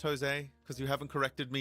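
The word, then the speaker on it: José: know because you know it's a Latin thing right where um it starts with a J but it's actually pronounced as a h and it gets a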